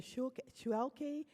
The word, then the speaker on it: Schuelke: And it seems that I think his name is pronounced Mr. Schuelke, Yep. S-C-H-U-E-L-K-E. Hank Schulke.